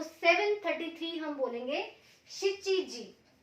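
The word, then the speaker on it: 七時: और इसमें एक एक्सेप्शन केसेस दो आएंगे कि जब आप 7 यूज करते हो टाइम में तो नाना नहीं होगा, शिची होगा।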